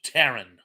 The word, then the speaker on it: Theron: I believe it's actually pronounced Taryn, or it should be, but in any event, I shall repeat the question.